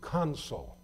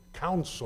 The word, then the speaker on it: consul: a diplomatic position as the console ce o-- n sul some people want to pronounce it counsel or counselor no counsel is what I am a lawyer the console is a diplomatic representative in a particular community certainly doesn't have the